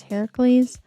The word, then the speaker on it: Heracles: As a quick aside, I do know the Greek pronunciation of Hercules is Heracles, but I think most people are more familiar with his Roman pronunciation. So, I'm just going to stick with that one.